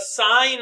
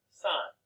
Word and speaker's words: sine: The sine of t, and this is where it gets into play here now. Okay? It's not sin. Okay? Still pronounced sine.